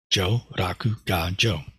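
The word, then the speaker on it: jō raku ga jō: of uh Nirvana as Joe Raku God Joe um of course the Buddha didn't speak Japanese but if he did uh that's how he would have pronounced those Chinese characters he didn't speak Chinese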